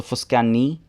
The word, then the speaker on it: Fuskani: So, um, technically you should stress the last syllable since the tilda is in the I at the end. So, Fuskani. Fuskani.